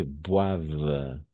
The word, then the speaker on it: boivent: En général, les adultes boivent. D'accord? Boivent et mangent. Pourquoi? Parce que ENT à la fin, c'est muet. Est muet. Est mudo. On n'entend pas. No escuchamos. On ne prononce pas. No pronunciamos.